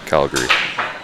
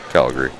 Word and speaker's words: Calgary: Well, I don't think I pronounced that last A in Calgary. That's how I would pronounce it. Calgary. Calgary? Calgary. So two syllables.